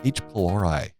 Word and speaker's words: H. pylori: what are we going to talk about and each polari did I pronounce that correctly yeah you pronounced that pretty